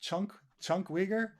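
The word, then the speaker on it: Cenk Uygur: Um, Chunk isn't it pronounced Chunk Uyghur? I know it's spelled CENK, but I think it's pronounced Chunk.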